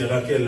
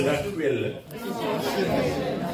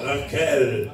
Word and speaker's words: Raquel: J'ai bien prononcé Raquel. Hein? Moi j'ai prononcé en français. En portugais c'est Raquel. Comment? Raquel.